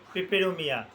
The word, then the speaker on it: পেপেরোমিয়া: করব যে গুলম উদ্ভিদটার নাম পিপেরোমিয়া বা পেপারোমিয়া দোনোটা উচ্চারণই সঠিক এক একটা জায়গাতে এক